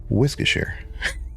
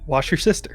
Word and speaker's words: Worcestershire: That's how you pronounce it. Worcestershire. Yeah. Wash your sister.